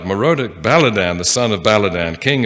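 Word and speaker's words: Merodach-baladan: ahaz at that time merodek baladan the son of balladan i didn't pronounce that first one right morodic baladan the son of baladan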